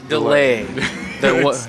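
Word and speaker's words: D'Leh: We're here with Steven Strait, the star of 10,000 BC, the one and only Delea. Is that how you pronounce it? Delay. Yeah.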